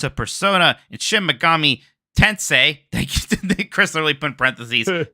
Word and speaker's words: Tensei: persona and shim Mami tensei Chris Lally put parenthesis tense is pronounced like Sensei Mike love you and